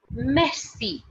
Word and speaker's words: merci: you next one is guys m-e-r-c-i okay m-e-r-c-a that is messy messy okay that is